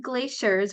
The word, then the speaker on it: glaciers: job good job so in the word glaciers right here this is pronounced um like a sh so it's glaciers glaciers and this is glacial so glistening glaciers gracefully glide through the Grand glacial Gorge so it's a sh sound right here glacial and and